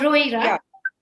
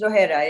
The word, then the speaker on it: Rohra: Rohira. Am I pronouncing your last name correctly? Rohira, right? It's Rohera.